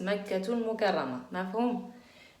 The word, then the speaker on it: مكة المكرمة: نعم, en arabe on prononce pas un ta المربوطة quand on s'arrête sur un mot, mais quand elle est attachée on la prononce.